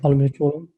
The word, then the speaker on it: Almir Colan: Am I pronouncing that right? That's right. Almir Colan.